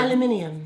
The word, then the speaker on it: aluminium: naturally naturally aluminum aluminum I feel like this was meant for like British people like that word aluminium yeah like where are you getting that extra syllable actually the word of originally was aluminium oh and we just took out the eye yeah we're like the